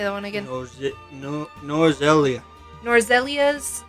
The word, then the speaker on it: Norzelia: Norzelia.